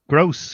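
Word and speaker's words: Groß: Gross, yeah, that's how you pronounce it. Grob is how he spells it. No, it's not a B. It's a German letter. It sounds like a double S.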